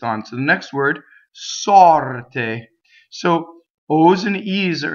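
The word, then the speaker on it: sorte: So sɔrte. But notice it's not te, it's te. Sɔrte, right? So pure vowel. Okay, so notice also that the R in this word rolls because it touches a T.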